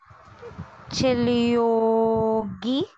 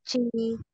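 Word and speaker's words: 지우개: Wala pong R dyan po. Ay. Okay, syllable na ulit. Okay. Chiyogi. Okay. Wala po siyang Y. Hindi po siya ganito. Isa lang po yung guhit niya. So, U. Hindi po. Oo. Chiugi. Chiugi. Okay.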